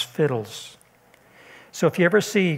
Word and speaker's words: FHIDLS: I use that acrostic FHIDLS, which I pronounce fiddles.